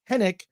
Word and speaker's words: Henwick: go Allan hin says says henwick is actually pronounced henck she's British via Hong Kong thank you Alan